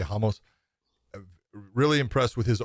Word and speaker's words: Ramos: very impressed by and it's not ramos it's that's the way they're pronouncing it so i'll say hamos i'm really impressed with